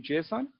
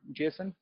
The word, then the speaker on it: JSON: we mostly prefer using JSON or Jason depends on how you it's totally up to you how you pronounce it because it's not really a proper noun so it's basically the